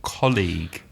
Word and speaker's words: colleague: called colleague and also the problem of the GU e at the end the word is about CE o Double L EA gu e the pronunciation colleague of course so many